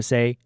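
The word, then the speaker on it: 三: We started with the number 1, which is pronounced jit. For example, if you want to say a flower, you will say jit lui hui.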